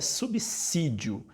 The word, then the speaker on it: subsídio: e que é errado subsídio subsídio é uma palavra errada uma expressão errada a palavra a forma correta é subsídio tem som de dois ésses essa foi uma das